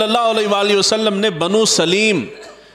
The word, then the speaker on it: بنو سلیم: علیہ وآلہ وسلم نے بنو سلیم، یہ عربی کے اندر کہتے ہیں تو بنو سلیم اس کا تلفظ ہے، حضور صلی اللہ علیہ